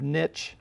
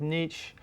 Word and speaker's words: niche: One is the concept of niche. Sometimes you'll hear it pronounced niche, but that is basically an organism's job in an ecosystem, sum total of what it does in an ecosystem.